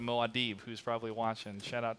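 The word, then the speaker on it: Muad'Dib: Just like Maudable instead of Moadib, who's probably watching.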